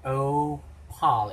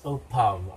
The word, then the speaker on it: Opał: Opal. It's not L, but it sounds like a V sound. So it's Opav, right?